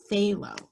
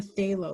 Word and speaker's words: phthalo: called a phthalo blue you don't even pronounce the pH it's say low a stay low blue and my goodness I